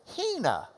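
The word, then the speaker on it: ἵνα: This has got a reverse comma in front, like an open mouth that goes, because it's the H sound. All right? So you would pronounce this Hina.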